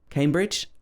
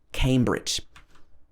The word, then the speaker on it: Cambridge: say bridge it's bridge and came at the beginning like you came to cambridge i guess you can remember it like that cambridge another place in scotland